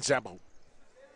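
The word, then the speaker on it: Szabo: The S is silent in Zabo.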